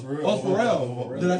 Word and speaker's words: Pharrell: Oh, Pharrell.